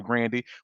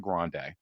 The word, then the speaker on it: Grande: people cuz she has said her name is pronounced Ariana Grandandy. We just refuse to say her last name right. So, we call her Ariana Grande.